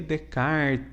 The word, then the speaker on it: Descartes: hoje vai ser sobre renê de kart escreve descartes né que era francês a pronunciar de kart né é filósofo aí